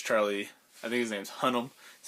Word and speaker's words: Hunnam: I think his name's Hunnam.